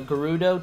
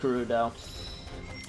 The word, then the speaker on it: Gerudo: if we can reach her urbosa the gerudo chief i i really mispronounced garuda all right head to urbosa the ruling forces